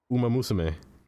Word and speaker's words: Umamusume: Umamusume.